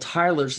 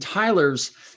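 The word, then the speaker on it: Theiler's: We were talking about a disease called Tyler's disease, and Tyler's is spelled kind of funny, Theiler''S.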